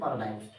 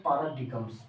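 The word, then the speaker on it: paradigms: Programming पैराडाइम्स। बहुत लोग पढ़ देते हैं पैराडिगम्स। ठीक है, डिगम्स डिगम्स नहीं पढ़ना, पैराडाइम्स पढ़ना। क्यों?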